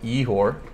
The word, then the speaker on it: Igor: If you can pronounce Igor, sounds like Yehor.